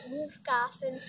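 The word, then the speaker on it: Wolf-Garten: the soil Miller from Wolf Garten uh how do you say it wolf Garten wolf Garden Garten oh wolf Garden I know it's Garten it's German wolf Garten wolf Garten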